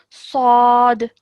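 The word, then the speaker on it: ص: Okay, now remember yesterday we learnt that we have to pronounce this with a thick and heavy sound, but with no element of a w sound.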